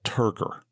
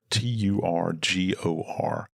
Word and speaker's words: turgor: skin, and it's called turgor, Turgor. I hear it pronounced turgor. Some people say turgor, but turgor.